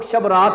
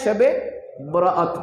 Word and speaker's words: شب برات: جیسا کہ شب برات جس کو عرف عام میں لوگ شب رات بولتے ہیں۔ کیا بولتے ہیں؟ شب رات، لیکن اس کا درست تلفظ کیا ہے؟ شب برات۔ برات کا مطلب ہے چھٹکارا، رہائی۔ کہاں سے رہائی؟